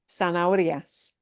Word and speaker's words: zanahorias: And then zanahorias, it would be, the accent is on the O because it's RIAS. Eso sí. So the punch there would be that O sound, zanahorias, zanahorias. That's a tough word for English speakers to pronounce. We've got the H that we have to ignore, but